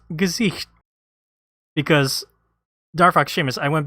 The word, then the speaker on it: Gesicht: So I was like, how do you pronounce this name? And she was like, Gesicht. I was like, okay. Yeah, no, that sounds right.